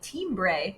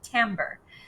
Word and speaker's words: timbre: color or tambour which kind of looks like team bray when it's printed on the page but it's pronounced timbre the timbre or the